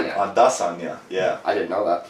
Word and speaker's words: Adesanya: His last name is actually supposed to be pronounced Adesanya. Adesanya, yeah.